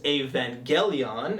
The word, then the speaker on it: Evangelion: the second time I ever watched Neon Genesis Evangelion it's is the correct way to pronounce it I know i' upset you um